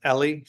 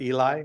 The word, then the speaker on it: Eli: would be although in in Hebrew it's pronounced Ellie not Eli and so uh you